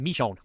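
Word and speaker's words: Michonne: I believe it's pronounced Mishon.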